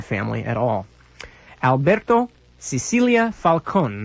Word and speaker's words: Falcone: at all Alberto Cecilia Falcone the last name is spelled si si ili a - FAL Co and like Falcon Alberto Cecilia Falcone leader